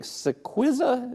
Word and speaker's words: Cillizza: Cillizza, is that how I pronounce it there? Tell me a little bit about what that is. Perfectly pronounced.